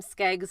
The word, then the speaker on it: Skeggs: my my last name skeggs is also like celtic scottish english and really the only story that i have besides people just looking at me being like does your name literally rhyme with eggs is that i had